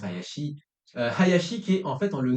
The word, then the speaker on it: Hayashi: s'appelle Hayashi, mais en fait en réalité ça se prononce Hayashi.